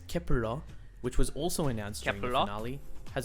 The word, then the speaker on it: Kep1er: nine members of kepler the name kepler pronounced in korean as kepura which was also announced